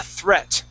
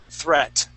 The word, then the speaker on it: threat: Now this word here is a threat. Okay, so that EA is actually a short E sound. Threat. Threat. Okay, give me a good THR sound.